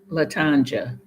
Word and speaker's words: Latanja: But no, Latanya, but with a J like Latanja.